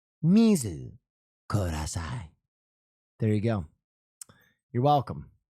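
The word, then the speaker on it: 水ください: Uh with the pronun- the correct pronunciation, that would be uh mizu kudasai. Mizu kudasai.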